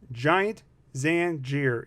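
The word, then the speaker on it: Giant Zanjeer: Giant Zangier is how you pronounce him.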